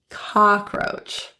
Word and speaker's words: cockroach: somewhere between a cockroach the first o in cockroach is actually pronounced with an a open relaxed lip position cockroach for me you're somewhere